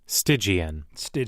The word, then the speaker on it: Stygian: How the hell I pronounce this shit? Before you have me out here looking crazy. Stygian.